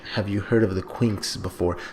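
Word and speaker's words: Quinx: So I'm going to start saying Quinks, because at first I was saying Quinkes, but I saw it spelled with an X. The manga website that I'm on, Manga Panda, spells it Quinckes. So I'm just going to pronounce it like it's with an X, the Quinks.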